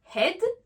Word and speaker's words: head: Un exemple, comme dans le mot head, la tête, là j'ai fait le son est, head.